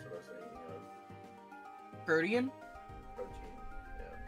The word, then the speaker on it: Protean: Pronunciation. Ah, it's Protean.